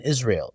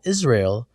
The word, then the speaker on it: Israel: The trick is not to pronounce the A in Israel. So instead of Israel, it's Israel. Israel.